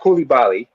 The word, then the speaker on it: Coulibaly: By the way, it's pronounced Coulibaly.